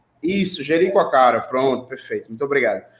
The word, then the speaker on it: Jericoacoara: O nome do lugar é muito difícil, Joaquacara, como é que é a pronúncia correta?